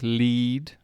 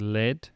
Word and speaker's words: lead: in the same vein lead and lead l e a d to lead lead lead lead read red red